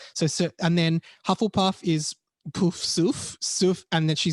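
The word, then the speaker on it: Poufsouffle: Hey, so the correct French pronunciation of the Hogwarts houses, we have Gryffindor, Gryffondor, Ravenclaw, Sœur d'Aigle, Hufflepuff, Pouf Souffle, and Slytherin, which is Serpentard.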